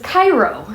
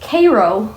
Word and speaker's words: Cairo: Um, and basically Orion, God love him, thought it was Cairo, you know, like Egypt, but it's actually pronounced Cairo, like the syrup, and that's where she got the Cairo syrup joke.